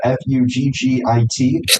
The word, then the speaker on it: Fugit: Um Chuck King, everybody remembers him from spring training because uh his middle name is spelled f u gi t. It's pronounced fugit.